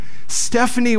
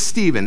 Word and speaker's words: Stephen: just got mispronounced now my name is Steven s-t-e-p-h-e-n like she's an English teacher she should be able to figure that out like this should not